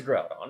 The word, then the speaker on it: Groudon: Well, there is Groudon. There's also the Reggies. Is it Grow or Grew? Most people say Groudon.